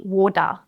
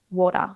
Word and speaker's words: water: If you stress that sound too much or you hold your tongue there, it's going to sound like a duh. We don't want to hear waw-duh. It's not waw-duh, it's not duh. Water.